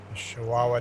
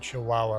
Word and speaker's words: Chihuahua: Chihuahua Desert. Smoke from the Chihuahua Desert. Are you impressed I pronounced that right?